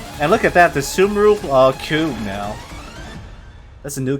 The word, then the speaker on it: Sumeru: Oh, they pronounce it Sumeru.